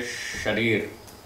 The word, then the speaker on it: शरीर: जैसे एक शब्द है शरीर, इसमें पहला अक्षर है श, तो बहुत सारे लोग इस श को श नहीं बोलते, स बोलते।